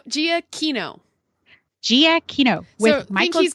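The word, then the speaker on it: Giacchino: to say it again Michael gianino did I say it right no Gia Kino Gia Kino with think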